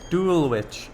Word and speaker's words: Dulwich: Dulwich. Oh, right, that's how you pronounce that, I see.